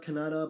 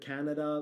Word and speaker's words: Kannada: I was told it's pronounced Kannada, but some people have said Canada.